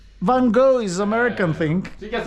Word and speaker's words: Van Gogh: No, you need to get pronunciation correctly. Van Gogh. Vincent No, Van Gogh. no, that's not correct. Bjorn, did you press? Van Gogh.